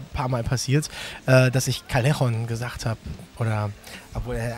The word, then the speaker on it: Callejon: Also der gängigste kleine verzeihliche Fehler ist natürlich Callejon, Doppel-L, Mallorca halt.